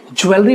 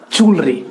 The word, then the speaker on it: jewelry: The word is jewelry, जिसे बहुत सारे लोग ज्वेलरी प्रोनाउंस करते हैं। तो आपको याद होना चाहिए ज्वेलरी एक इनकरेक्ट प्रोनाउंसिएशन है एंड the correct pronunciation is ज्वेलरी।